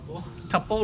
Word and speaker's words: tuple: Tuple rhymes with couple.